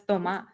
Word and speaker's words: Tomas: I'm like, that's Tomas. You have to say it like that. Where are you from, Thomas?